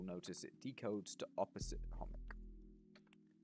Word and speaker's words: Chomik: far, I've been saying Chomik wrong. It's actually a Polish word. It's pronounced Chomik, not Chomik.